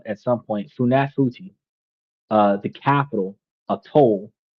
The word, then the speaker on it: Funafuti: So, Funafuti, I'm going to try to say it right at some point. Funafuti, uh the capital of Tuvalu, where most people